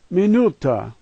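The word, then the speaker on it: минута: First letter M, second letter double E sound, E. Third letter N, fourth letter U, last two letters T-A, no challenge. Minuta, minuta.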